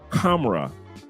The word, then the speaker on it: Kamra: The one with the caramel is Kamra by Latafa. It's spelled KHAMRA. Kamra. Like the H is silent. Like it should be like camera, but it's Kamra.